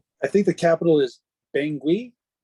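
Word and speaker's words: Bangui: think the capital is pengui bengui oh yeah I think it's pronounced bangi this is the way they pronounce it yes anyway so I've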